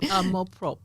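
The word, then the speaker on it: amour-propre: So help me say it properly for so that everyone else gets it right. A prop and it means self-love in French.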